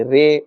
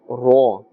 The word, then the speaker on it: ر: This Ra, remember to pronounce with a fuller sound. Do not say Re or Ra. With a fuller sound as Ra.